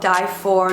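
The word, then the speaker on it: Dyphor: vendors around the world it's called die for New York it's spelled d y p h o r it's a play on words it's pretty much everything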